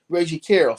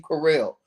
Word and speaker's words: Carroll: Carroll. Oh, Carroll. Okay, Carroll. Like Yeah. Carolyn Carroll.